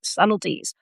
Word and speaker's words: subtleties: They're still learning the little subtle subtleties.